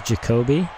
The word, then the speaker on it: Jacoby: easy out number one Nolan Jacoby apparently is how he pronounces Jacoby and that was a